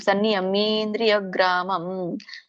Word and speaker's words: ಸನ್ನಿಯಮೇಂದ್ರಿಯಗ್ರಾಮಂ: ಒಂದೇ ಪದನು ಮಾಡಬಹುದು ಸನ್ನಿಯಮೇಂದ್ರಿಯಗ್ರಾಮಂ ಬಟ್ ಅಲ್ಲಿ ಮೇ ಇದೆಯಲ್ಲ ಎಳಿಬೇಕು ಸನ್ನಿಯಮೇಂದ್ರಿಯಗ್ರಾಮಂ ಸರ್ವತ್ರಸಮಬುದ್ಧಯ ಇದು ಹಾಗೆ ಬರುತ್ತೆ